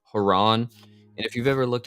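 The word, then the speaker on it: Charon: by it's c-h-a-r-o-n uh I think the proper way to pronounce that is Iran or some people say Quran or some people just say Karen and but it's actually haran and if you've ever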